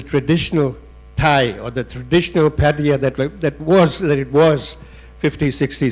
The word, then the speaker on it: Pattaya: Do you want to do what is the correct pronunciation of Pattaya? Pattaya?